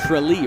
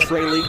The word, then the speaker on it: Tralee: And you told me earlier it's pronounced Tralee, right? Not Tralee? Tralee, as in the Tralee. Rose of Tralee.